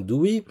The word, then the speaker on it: Dewey: C'est ce que je ne cesse de dire à mon chien Dewey, que certains appellent Douille, je le dis en passant, parce qu'ils n'arrivent pas à prononcer en anglais Dewey.